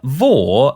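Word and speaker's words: vore: in case you're unaware, Vor, as in V-O-R-E, but pronounced the same as the company, is a sexual fetish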